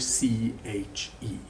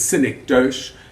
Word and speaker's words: synecdoche: synecdoche spelt d o s-y-n-e-c-d-o-c h e do not pronounce it cynic dosh the correct pronunciation is